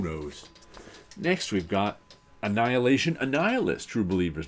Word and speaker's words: Annihilus: And I could never figure out how to pronounce Annihilus's name as a kid. I think I sounded it out, Annihilus. That makes sense, Annihilus. Because it never struck me that the root word for it was annihilate.